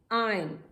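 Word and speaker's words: iron: Are silent है। आयरन, आयन।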